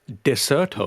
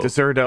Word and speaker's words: Dexerto: It's actually pronounced Deserto. Deserto.